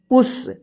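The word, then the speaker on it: push: देखिए यहाँ पे पी यू डबल एल पुल, पी यू एस एच पुश।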